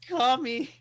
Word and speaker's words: Kami: Kami as in communist? No. That's what I thought you said. Dirty commies. That's what it's called. It is Kami. That would be a totally different game. It's spelled Kami.